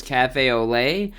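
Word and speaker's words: café au lait: this color name wrong apparently it's Cafe Olay and I was saying Cafe a lot which I knew that sounded weird so I really appreciate him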